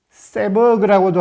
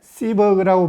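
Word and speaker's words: Seberg: 미국의 뛰어난 배우 진, 흔히 세버그라고도 하는데 시버그라고 발음하는 게 맞는 듯 합니다.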